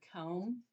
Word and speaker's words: comb: Do you remember there's an ending one that has that silent letter that doesn't talk that goes with the M at the end? Like, can you write the word comb for me? Not come, comb. Like I comb my hair.